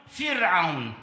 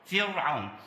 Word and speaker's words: فرعون: قوله تعالى واضل فرعون وغالبا ما يقع الخطا في هذه الكلمه تنطق فرعون خطا القاعده الراء ساكنه قبلها كسر وبعدها حرف عين والعين حرف استفال فنقول فرعون ولا نقول فرعون كذلك في قوله تعالى